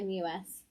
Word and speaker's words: Seamus: You have, I think it's pronounced Seamus or Samus. Seamus. Well, there's no H in it. No, but there's not in Seamus. Really? Yeah, it's Seamus.